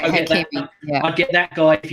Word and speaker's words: Hakimi: to get him, get, I believe I want to say it's Hakimi. I might be wrong in the pronunciation from Inter Milan. You're right, Hakimi.